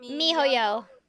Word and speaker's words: miHoYo: Mihoyo.